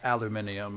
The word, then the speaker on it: aluminium: But it was aluminium. Another fun fact. Uh it it correctly is pronounced aluminium.